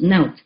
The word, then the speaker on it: Not: And over here I have written like Naut, N-O-T, pronounced Naut.